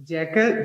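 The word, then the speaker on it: jackal: Once upon a time, एक गीदड़, आ जैकल, जैकाल भी बोलते हैं, दोनों प्रोनाउंसिएशन है इसकी। आ जैकल lived on the bank of the river।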